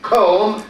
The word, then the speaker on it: comb: For example, as I said now, comb, repeat after me, comb, several times, they will be able to say the word correctly.